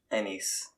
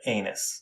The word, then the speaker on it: Anis: you would name him Anis because it's spelled differently, and even if you spell it ANES, people will still make fun of him. We'll call it anus.